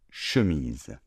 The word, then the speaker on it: chemise: Nous avons donc une chemise. Vous avez bien prononcé le S comme un S sonore puisqu'il est entre deux voyelles.